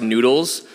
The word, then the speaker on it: GnuTLS: Because it's spelled GNUTLS, but it's supposed to be pronounced noodles.